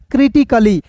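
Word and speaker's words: critically: देखिए ना यहां पे सी का उच्चारण क के रूप में हो रहा है। ए का उच्चारण नहीं करना है। डबल एल का उच्चारण ल के रूप में और याद रखिएगा अंतिम में जब भी आपको वाई दिखता है ना तो उसका उच्चारण दोस्तों इ के रूप में करते हैं। तो बताइए दोस्त क्या हो जाएगा? क्रिटिकली हो जाएगा।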